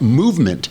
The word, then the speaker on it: MVMT: And the best way to get a watch as at movement. Movement is spelled M VMT. They take out the O and the E and the N because you're going to